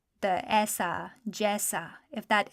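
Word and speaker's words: جیسا: Next, let's look at the word jesa. So because it rhymes with aisa, it should be fairly easy to spell.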